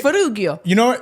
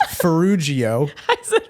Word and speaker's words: Ferrugio: it's just to clarify it's fujio fujio not fugio I don't know if it was a hard or soft G I mean you know